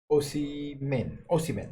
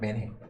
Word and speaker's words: Osimhen: Osimhen, right? Not Menhe. So Osimhen, Victor Osimhen.